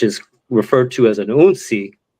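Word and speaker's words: hounsi: There's, the initiate of the house, which is referred to as an unsi. Again, spelled with an H, but the H is silent.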